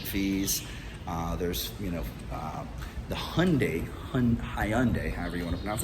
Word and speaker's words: Hyundai: there's you know the Hyundai Hyundai Hyundai high everyone knows it I guess I undo the proper pronunciation but hi unday is doing they had